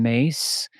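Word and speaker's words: Myss: talk about archetypes one of them is Carolyn mace I'm not sure if you're familiar with Carolyn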